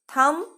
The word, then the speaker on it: thumb: ইয়াত দুটা দিয়া আছে, thumb, dumb. MBৰে শেষ হোৱা শব্দৰ বিটো silent letter, মানে বিটো মনে মনে থাকে। আমি বিটো উচ্চাৰণ নকৰাকৈ এই শব্দকেইটা ক'ব লাগিব। thumb, dumb, crumb, numb. Say again.